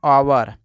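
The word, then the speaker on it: hour: और इसको पढ़ते हैं आवर, क्या पढ़ते हैं दोस्तों, आवर। अब दोस्तों हम लोग देखते हैं कि साइलेंट के का नियम क्या होता है।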